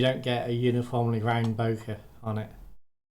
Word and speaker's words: bokeh: get a uniformly round bokeh on it, or bokeh, as it's actually supposed to be pronounced.